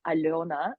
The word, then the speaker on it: Alëna: And I will start by actually saying my name in Belarusian, which is Alёna.